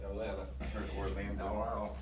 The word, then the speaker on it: Atlanta: It's pronounced Atlanta. I heard Orlando. Oh, wow. We say Atlanta. No T.